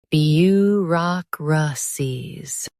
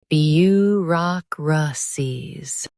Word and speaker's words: bureaucracies: bureau rock ra cies bureaucracies Stress rock and keep cies light.